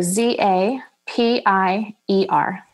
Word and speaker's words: Zapier: you say the name again and how you spell it zapier z a p i e r zapier oh got it okay goodness well I